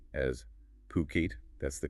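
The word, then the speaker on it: Phuket: And one last thing, just a quick reminder throughout this deep dive, we've been saying fuket as puket. That's the correct pronunciation, not fuket.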